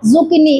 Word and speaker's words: Zucchini: Z फॉर जुकिनी। इसकी spelling हम लोग पढ़ते हैं, ZUCCHINI, जुकिनी।